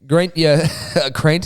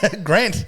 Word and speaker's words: Grant: And he's got here Crent, sorry. Grant.